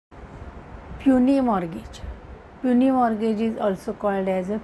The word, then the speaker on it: puisne: mortgage असेही म्हटलं जात काही जण याच प्रोनन्सशन पसने मॉर्गेज किंवा पुसने मर्गेज असे करतात पण पनी मॉर्गेज अस म्हटलं जातं तर आपण पनी मॉर्गेज